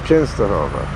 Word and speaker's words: Częstochowa: Huza is still works of Częstochowa. And W is pronounced V.